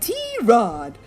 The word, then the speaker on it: Tirade: I even told them it's not pronounced tirade or tirade, but T-Rod, the way we like to say it.